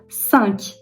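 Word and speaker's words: cinq: 5 de bazen zorlayabiliyor öğrencileri. San yine nazal bir sesimiz var çünkü orada sank şeklinde söylüyoruz.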